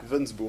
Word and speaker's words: Gliwensbourg: très simple à écrire. Comme ça se prononce. G-L-I-W-E-N-S-B-O-U-R-G, Voilà. Glivensburg.